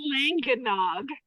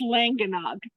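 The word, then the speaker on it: Llangynog: It's pronounced Langanog, and it's spelled Langanog. Langgynog, but that's the name of the village, and it's pronounced Langanog.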